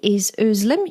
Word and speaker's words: Özlem: name is Anna tider and my guest today islim y petroni did I pronounce that well llim yes you did llim